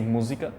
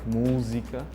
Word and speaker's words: música: So in Portuguese from Portugal, when we say music, we say música. So the pronunciation is like música.